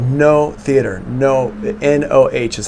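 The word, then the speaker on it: Noh: And I went to a show called No Theater. No, N-O-H is how it's spelled, No Theater.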